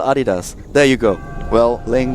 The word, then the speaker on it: Adidas: no it's not pronounced Adidas it's Adidas and it's American no it's not it's German and it's still Adidas there you go well